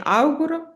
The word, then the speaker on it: auguro: Quindi l'accento, ricordati di metterlo sulla A iniziale. Le auguro una buona giornata.